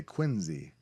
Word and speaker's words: Quincy: tiny little word Quincy normal person would say no no Englander would say Quincy Quincy as if it's a Z because they don't Quincy